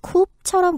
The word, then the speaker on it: coup: 스펠링은 C-O-U-P라서 마치 coup처럼 보이지만 발음할 때 P 사운드가 안 나고요. coup라고 발음합니다. 쿠데타가 영어가 아니었군요.